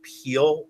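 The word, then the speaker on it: Piel: and it's made by I think it's pronounced peel p IE l and this one it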